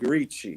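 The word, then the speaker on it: Ricci: But Dean Martin's youngest son, Ricky, that's spelled R I CCI, like reachi, you know, the Italian spelling.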